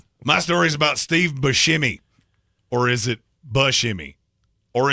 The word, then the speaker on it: Buscemi: But it could be Buscemi. He even said, I've never heard anybody call him Steve Brushkimi.